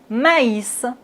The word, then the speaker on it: maïs: Regardez bien, c'est le mot mais a i se prononce et dans la langue française mais dans son mot il y a le tr i. Donc on doit prononcer le a et le i séparément. Ma is maïs.